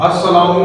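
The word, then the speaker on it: السلام: सलाम का सही तरीका इसमें लाम क्योंकि साइलेंट है इसलिए ऊपर एराब आएगा अस्सलाम अब ये है शद आ जाएगा दो बार सीन पड़ा जाएगा अ सलाम लाम नहीं पढ जाएगा लाम साइलेंट है इसके अंदर शमसी हर्फ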